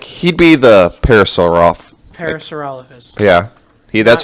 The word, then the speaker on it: Parasaurolophus: I feel like Maury would be like, he'd be the Parasaurolophus. Parasaurolophus. Yeah. That's how he announces his show. We just blared. Not Parasaurophilus. Like, why does everyone think it's Parasaurophilus?